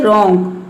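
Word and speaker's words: wrong: जाए तो वहाँ पे डब्ल्यू क्या रहता है, साइलेंट रहता है, आर से पहले डब्ल्यू आना चाहिए। जैसे कि देखिए यहाँ पे है रॉन्ग, तो इसमें आर से पहले क्या आया है,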